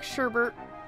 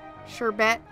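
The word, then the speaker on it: sherbet: color I used atomic sherbert sure bet sure BAE it's not sherbert but I keep wanting to put an R in it it's atomic sure BAE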